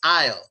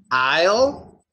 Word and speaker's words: aisle: aisle three okay so they're both pronounced ale you have ale and Ale exactly the same prosta uh repeat please Isle Isle prosta in a